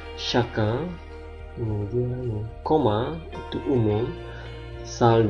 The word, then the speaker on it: chacun: Brun coklat, chacun, CH dibaca sh, chacun.